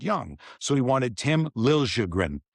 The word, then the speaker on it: Liljegren: So he wanted Tim Liljegren. So he went to Liljegren from Liljegren. So now it's Liljegren, and now it's Tim.